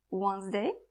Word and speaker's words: Wednesday: Take this word as an example. Wednesday, its phonetic is written this way. So, simply we see something and say something else.